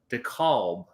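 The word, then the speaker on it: DeKalb: not Chicago but we played a show in d calb d calb Decalb is how you pronounce it just outside of Chicago that was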